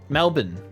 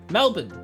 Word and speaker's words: Melbourne: that a British person would say Melbourne correctly Melbourne Melbourne that's how you meant to say it one